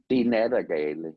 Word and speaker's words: Nattergale: the Nattergale.